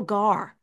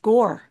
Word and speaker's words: Gaur: Neil, so we always called him Neil Gar, GAUR, but I found out recently GAUR is pronounced Gore.